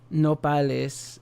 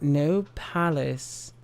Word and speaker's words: nopales: British streamer get to the word nopales and pronounce it no palace.